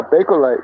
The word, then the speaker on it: Bakelite: a boy am I saying it right yeah Bakelite yeah absolutely oh okay it's b-a-k-e I think